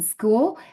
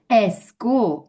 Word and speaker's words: school: by um a consonant they pronounce it with an e before for example school a school and that's not correct because the sound it's s Thank you.